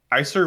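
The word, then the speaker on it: Iczer: F eer Series so iser one which is spelled like i c z r is this like sci-fi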